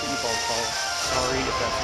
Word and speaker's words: Yveltal: And then Yveltal gets the big knockoff.